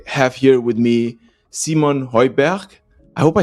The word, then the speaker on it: Høiberg: It's a Danish name. Yes, Simon Høiberg in Danish. Yeah, because it's very similar to. I lived in Germany for a bit, and the pronunciation is somehow similar. I would say, like the Berg kind of thing.